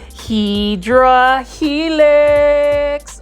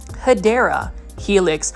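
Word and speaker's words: Hedera helix: Hedra helix or the correct way to say it is hideera helix or the English ivy.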